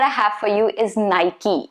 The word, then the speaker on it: Nike: to be porsha that's the best way of pronouncing it the next one that i have for you is nike it's not supposed to be nike no nike